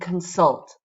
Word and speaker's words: consult: Preliminary, preliminary, compiled, compiled, and consult, consult. You see a lot of our verbs, the ones that have 2 syllables, end with the stress. Consult, compile, exceed. They all have stress on the second syllable.